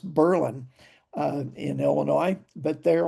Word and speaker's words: Berlin: It's um Berlin, Illinois, only it's pronounced Berlin uh in Illinois, but they're also the home of the pretzels.